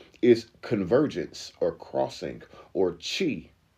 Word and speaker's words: qi: Like why Q I in specific languages in Asia is spelled, it's pronounced ki, and then that same word in that same culture in different times is pronounced chi, that QI, like qigong, or